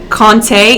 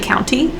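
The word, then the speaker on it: Countee: kante conte county cullen i call him kante in my head but i looked it up and it's actually county he was a poet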